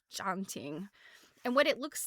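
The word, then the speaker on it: tjanting: And I'm I don't know if that's the right pronunciation, but this little thing is called it's spelled tj a n t i n g. A janting.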